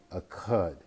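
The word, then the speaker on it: אחד: with, it is called a cud. A cud. Notice the second letter, which is a guttural, which means it comes from the back of your mouth toward the throat area when you pronounce it.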